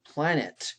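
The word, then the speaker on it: planète: french planet planet okay the e is silent in french now let's get to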